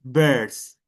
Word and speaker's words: birds: By the way, Antonia, remember it's pronounced birds.